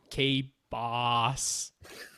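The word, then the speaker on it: K-Bāss: It's K-B-A with a line over it, S, K-Boss.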